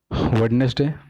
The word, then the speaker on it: Wednesday: Wednesday? No, this is Wednesday, Wednesday, WENZ, Wednesday. It has two syllables.